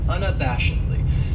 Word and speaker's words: unabashedly: then we have unabashedly this adverb has five syllables and the stress is on that third syllable that bash unabashedly that second syllable has that schw that uh sound unabashedly and what it means is